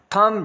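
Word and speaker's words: thumb: थम, जब भी एम के बाद बी आएगा, डम, कॉम, बी साइलेंट होगा।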